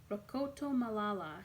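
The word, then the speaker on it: Rakotomalala: Ben Rakatamalala. I'd never heard a last name like that before. I tried to pronounce it, but I couldn't. Rokoto, huh? Rokoto Malala, he replied.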